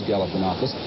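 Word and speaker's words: Galifianakis: the campaign was to teach voters how to pronounce his name it is galanakis and as of now he is leading Jesse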